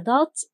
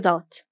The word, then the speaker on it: ضاد: It only has a dot above. Its sound is ضو. ضو. It's also an emphatic sound like صاد.